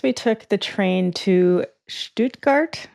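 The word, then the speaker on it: Stuttgart: So, next we took the train to Stoutgart, I think is how you pronounce it, even though I've been calling it Stutgart as with my American accent.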